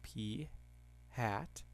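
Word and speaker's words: p̂: proportion is P hat and yes that is pronounced P hat which is x over N and X is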